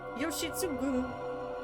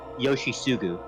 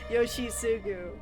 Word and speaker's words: Yoshitsugu: The T in that is silent. It's Yoshisugu. Oh, okay. Yoshisugu.